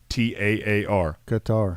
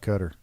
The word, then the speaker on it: Qatar: Country in the Middle East, American pronunciation, Quhtaar. Qatar. I mean, I'm just I see it, Connor. But if you watch the news or listen to people who's been over there, they'll be like Qatar.